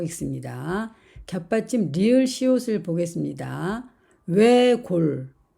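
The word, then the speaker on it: 외곬: 외골, 외골. 역시 앞에 있는 리을 받침은 발음이 되고 시옷은 탈락이 되었습니다.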